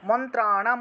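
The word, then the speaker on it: মন্ত্রাণাম্: 2 নম্বরটা সর্বম, সর্বম এখানে অন্তস্তব, সেজন্য সর্বম এতৎ বিজানীয়ান, এতৎ বিজানীয়ান মন্ত্রাণাম, মন্ত্রাণাম উচ্চারণ হবে মূর্ধন্য যেহেতু আছে, মন্ত্রাণাম अपि कीलकम, कीलकम सोऽप्यक्ष सु सोऽप्यक्षेमम् अवाप्नोति, সোপ্যক্ষেমম।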